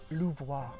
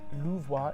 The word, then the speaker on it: Louvois: It's called the Square Louvois, and it's spelled L-O-U-V-O-I-S, Louvois. A little bit like the Louvre Museum.